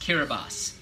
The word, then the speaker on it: Kiribati: So the Gilbert Islands became Kiribati, spelled Kiribati, K-I-R-I-B-I-T-I, Kiribati, but it's pronounced Kiribati.